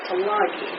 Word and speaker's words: Tulagi: From Tuliga, T-U-L-I-G-A. He pronounced that Tulagi.